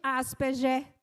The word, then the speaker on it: Asperger: Hans Asperger. Algumas pessoas pronunciam Asperger, mas eu não fico à vontade falando assim o G. Então, é Asperger.